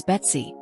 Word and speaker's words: B2C: I will now explain the process employed to empower agent B2C pronounced as Betsy is silicon world's agent powered by AI.